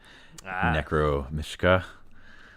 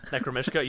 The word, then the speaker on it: Necromishka: We might as well break up this noise rock and go with the Space Between Us by Necromishka. Yes. Did I say it right? Yes. Necromishka.